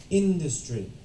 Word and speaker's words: industry: Alright, so the correct answer should be industry. The stress is on the in.